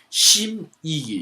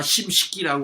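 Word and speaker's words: 審食其: 이 벽양후라고 하는 자귀를 가진 심이기, 이가 심식기라고 그러는데 이게 요 이름 부를 때는 이자로 발음합니다. 이 식자를.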